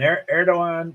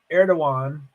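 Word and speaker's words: Erdoğan: there's no runoff so erdogan there's a D in there but it's pronounced as a w I think erdogan I think um so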